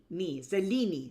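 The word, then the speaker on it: Selene: So what we have here in Greek is three I sounds. We have celi. Selini. Selini like the moon.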